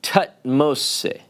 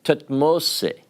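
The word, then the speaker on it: Thutmose: want to tell you about an egyptian named tut moste have you ever heard of tutmos it's actually pronounced tatmosey means born of tut or the son of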